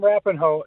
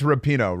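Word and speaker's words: Rapinoe: show Welcome with Megan rappinhoe is that how do you say reference yeah just oh no it's rapino rapino yeah so anyway she's an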